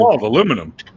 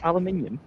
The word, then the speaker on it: aluminium: my brother for real aluminium aluminum aluminium that's just ridiculous it's aluminium that's like facial tissues